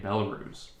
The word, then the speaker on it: Belarus: and distribution of our products into russia and belarus uh intel am i pronouncing that correct belarus yeah absolutely i'm just